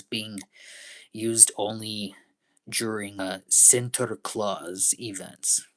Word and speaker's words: Sinterklaas: Am I Am I saying it right? Sinterklaas events. Here, hold on. I didn't say it right. Let me try again. Sinterklaas events. There, much better. Much much better.